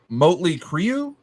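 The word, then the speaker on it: Mötley Crüe: You guys ever heard of a band called, am I pronouncing this right? Motley Crue?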